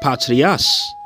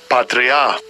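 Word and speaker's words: πατριά: And when you go into that word kindreds, that word there in the Greek is pronounced patrias. Salasha. Strong's G, 4396. Prophetes. Prophets. Prophetes. But I meant to go to kindreds. Strong's G, 3965. Patria.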